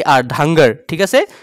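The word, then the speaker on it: Dhangar: এন জি এ আর ধাঙ্গার ঠিক আছে ধাঙ্গার কিছু মানে ঢাংকর বলে উচ্চারণ করে কিন্তু ক্ষুদ্র উচ্চারণটা হব ধাঙ্গর ডি এইচ এ এন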